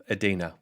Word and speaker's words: Edina: How would you describe Edina at that time? Well, it's pronounced Edina.